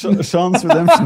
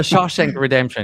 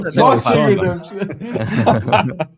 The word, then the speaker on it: Shawshank Redemption: What was it? Sean's Redemption. The Shawshank Redemption. Yeah, no, Shawshank Redemption.